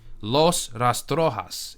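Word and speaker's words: Los Rastrojos: You have the Colombian gangs like Los Rtoas or I'm sorry, I forget the way to pronounce it. Uh, Los Restroas is the way you pronounce it.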